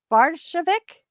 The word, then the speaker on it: Bardovic: We have a very special guest, Bardovic. Is that how you say it? Bardovic. Bardovic.